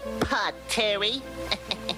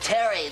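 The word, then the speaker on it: Pterri: Hiya, Pod Terry. That's pronounced Terry. The P is silent.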